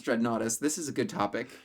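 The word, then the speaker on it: Dreadnoughtus: dread naus yes I do know how to pronounce dread naus this is a good topic so I found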